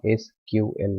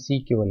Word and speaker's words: SQL: அதை நீங்கள் தனித்தனியாக ப்ரொனவுன்ஸ் பண்ணலாம் SQL என்று சொல்லி, அல்லது அமெரிக்கனுடைய பாணியில் CQL அப்படின்னு சொல்லி நீங்கள் பயன்படுத்தலாம்.